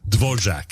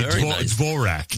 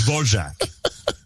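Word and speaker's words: Dvořák: I have to pronounce it the way my mother told me to pronounce it. Dvorjac. Yes, sir. Most people would say D'vorak, but it's Dvorjac.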